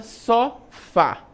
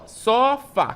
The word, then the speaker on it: sofá: Então, a palavra sofá, como é que a gente então eh sabe que a palavra só fá ela é uma oxítona? Porque, ó, só fá, quando eu separo só fá, né, eu tenho aí